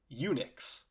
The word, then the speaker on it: Unix: system would later be named unix phonetically unix as in somebody who has been castrated for being a castrated